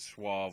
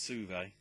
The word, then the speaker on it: Suave: We were getting it wrong, me and Owen, either way, whether it's Suave or Suave. Apparently it's Suve.